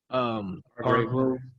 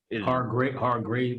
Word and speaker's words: Hargrave: Hargrove. Yeah, Hargrove. That tackle rotation is Hargrave, I think it's how you say it. Hargrave.